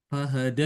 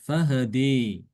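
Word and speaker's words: فَهَدَىٰ: Fahada itu fathah ya. Fahada. Kalau imala fahadi kalau taklil fahad de gitu.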